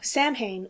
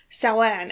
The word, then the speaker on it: Samhain: you who don't know samhain or sauan as it's supposed to be pronounced is an ancient celtic